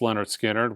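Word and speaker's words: Lynyrd Skynyrd: you should own list pronounced Leonard skinnard with the dynamite version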